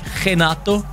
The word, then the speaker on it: Renato: but i believe in in portuguese you don't necessarily say the r right it's like genato is that that how you say it at least that's like how brazilians uh pronounce their names like royce gracie is hoist gracie type of thing jujutsu legend